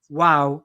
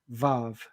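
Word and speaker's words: וָו: That consonant, the w consonant, it's an the w consonant made the w sound. So technically speaking, if you want to do it right, you'd pronounce it wow rather than vav.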